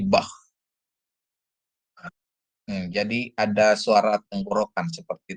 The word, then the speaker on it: Bach: Untuk aksara head seperti Anda melafalkan nama musisi klasik Bach ya, yang diucapkan bah dengan tekanan h di tenggorokan, bukan diucapkan bak, bak ya, tapi bah.